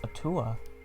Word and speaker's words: Atua: Praise be to Atua. Oh, it's pronounced Atua.